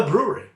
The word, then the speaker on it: Bruery: is named just the Bruery. I'm not making this up. It's just the Bruery. Although they do spell it a little differently. They spell it B-R-U-E-R-Y.